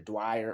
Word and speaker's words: Dyer: It's either Dwyer or Dyer. I think it's Dyer.